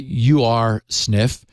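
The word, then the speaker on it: Ursnif: I'll I'll pronounce it you are sniff which is also known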